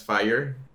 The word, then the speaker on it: Fáyer: more better known as fire uh which actually comes from fire fire but it's just a way of spelling it weird because that's how people pronounce it over here in Mexico uh and yeah as